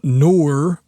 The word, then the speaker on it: Knorr: The plugin I'm going to be showing off today is, I believe, pronounced Noir from Klevgrand, and it is their new bass enhancement plugin.